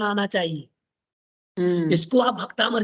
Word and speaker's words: भक्तामर: संस्कृत भी शुद्ध पढ़ेंगे जैसे देखो भक्तामर है कि भक्तावर है भक्तामर सर भक्तामर जबक बोलते क्या हो भक्ता भक्तामर बोल देते हैं ठीक है ना इनको